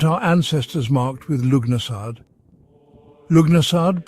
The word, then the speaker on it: Lughnasadh: Lugnasad, pronounced Lunasa, is one of the four great Celtic fire festivals, bridging summer and autumn.